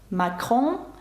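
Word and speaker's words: Macron: президента Франції емаель макроon макрон пишеться через се але звук к макрон але ця літера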